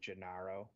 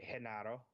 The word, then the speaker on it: Genaro: They're led by, I'm probably going to butcher it because I want to say Gennaro, but I know it should be pronounced probably Genaro.